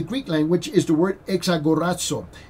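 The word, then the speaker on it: ἐξαγοράζω: That word redeem in the Greek language is the word exagorazo. Exagorazo. Exagorazo. Okay, I'm going to spell it for you.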